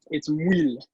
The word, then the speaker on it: Muyl: most of any, but it's Muyl. So it's like French, but the way to pronounce it would be like if you eat something good, it's like like it tastes good, super topical. But and then wheel, so wheel.